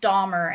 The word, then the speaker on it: Dahmer: Yes, it is Dahmer and no there is no relation to Jeffrey I promise.